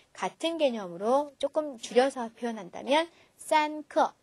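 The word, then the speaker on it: 三刻: 45분에는 경요 그게 세 개 모이면 되죠 어떻게 발음하죠 쌍크 물론 45 그대로 숫자적으로 나열로 하셔도 돼요 스스 우 하셔도 되는데 같은 개념으로 조금 줄여서 표현한다면 산크 좀 더 쉽겠죠 그다음 30분이라는 표현인데요 3과 을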